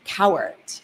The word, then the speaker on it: Cowart: Her dad, a celebrated sound engineer and songwriter, Donovan Cowart.